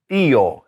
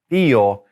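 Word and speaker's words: tío: and women together now uncle is Theo Accent on the I Theo and Aunt is grandfather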